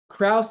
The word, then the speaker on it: Krause: Krause, like house. Okay, like house.